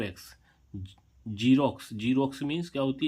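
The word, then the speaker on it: Xerox: एक्स का उच्चारण ज होता है।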